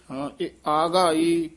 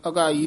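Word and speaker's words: ਆਗਾਈ: से त्रिपत रहे आगाई आगाई कना ला के दो कन्ने बोलने हन अगाई नहीं कहना से त्रिपत रहे आगाई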